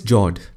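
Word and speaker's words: fjord: norway russia and sweden the next one is jord the f word is silent when you pronounce it these are a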